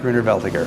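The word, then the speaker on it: Grüner Veltliner: would love to make greener veltiger i think that that's that's one that the oregon could grow really really well but another german pronunciation right greener um laos boom allows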